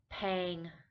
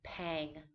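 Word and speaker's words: แพง: luck to be expensive paying paying with a middle tone pang uh this is good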